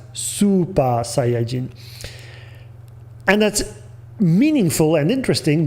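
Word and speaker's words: スーパーサイヤ人: on top of it telling us that we should pronounce it not as chuo sayajin but as super saiyajin and that's meaningful and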